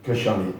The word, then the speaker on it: Khashane: Khashane.